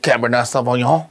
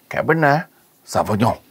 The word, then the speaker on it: Cabernet Sauvignon: So this is a little Cabernet Sauvignon. You may not be in a wine aficionado like me, but that's how you pronounce it. Once again, Cabernet Sauvignon.